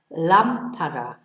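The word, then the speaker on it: lámpara: it would be Lampard so our stress is on the first syllable in fact lampara whereas odenadov our stress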